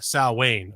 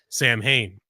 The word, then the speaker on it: Samhain: 2,000 years ago as a pagan holiday called Sal Wayne or more commonly mispronounced Samhain October 31st was the Celtic New Year and